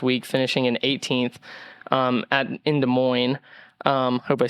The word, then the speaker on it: Des Moines: Going into our storyline segment, Ricky kind of had a uncharacteristic finish last week, finishing in 18th in Des Moines.